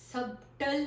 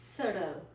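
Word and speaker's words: subtle: This word is सबटल नहीं है, S-U-B-T-L-E, सबटल नहीं है. हमारा जो वर्ड है वो है सडल. सडल.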